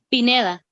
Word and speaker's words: Pineda: Pineda, is that the way you pronounce your name? ¿Se pronuncia Piñeda su apellido? Pineda. Pineda? Pineda. Vargas? Pineda. Pineda.